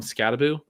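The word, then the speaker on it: Skattebo: You always say Scataboo. Is that confirmed? Should I be calling him Scataboo? I believe that is the correct pronunciation there.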